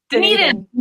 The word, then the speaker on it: Dunedin: Dunedin.